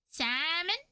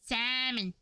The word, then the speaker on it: salmon: Salmon doesn't make any sense. Why there's an L if you don't pronounce pronounce it? Salmon.